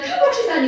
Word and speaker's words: 카복실산: 들어가면 사이잖아 그래서 얘를 카복실 산이라고 읽습니다 전부 다 영어로 읽던가 내가 맨날 하는 얘기 전부 다 영어로 읽던가 전부다 영어로 읽으면 여기에 이제 형용사형 들어가서 카실 이렇게 가요 그 여하튼 우리 말로는 카복실 산이라고 읽어요 자 카복실산 이고요 그럼